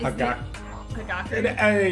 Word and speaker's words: Hagakure: That is Hagakure.